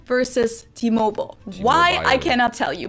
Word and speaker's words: T-Mobile: name for the subsidiary but even though it's english it's pronounced differently in germany and the u.s true t-mobile versus t-mobile why i cannot tell